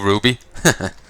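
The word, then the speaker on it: RWBY: Star Trek uh in here I guess angel ruby uh that's the uh you know show Ruby by rooster tee it's spelled the same way R WBY y so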